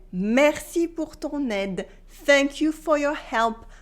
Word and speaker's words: ton aide: can say merci pour ton aide. Thank you for your help. Merci pour ton aide. Repeat after me. Merci pour ton aide. Here I do la liaison between ton and aide.